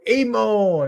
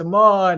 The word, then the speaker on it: Aman: He's like everybody give it for Ammon. It's like it's Aman everybody.